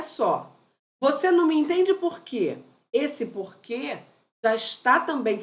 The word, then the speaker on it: porquê: você não me entende por quê olha como ele é forte eu pronuncio de maneira clara forte você não me entende Porquê esse Porquê esse que é tônico por isso que ele